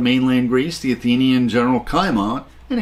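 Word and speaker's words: Cimon: greece the athenian general kaiman and in greek c is pronounced as k scored a major victory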